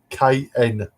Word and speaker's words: Knuth: Knuth is spelled Knuth. That is how it's pronounced.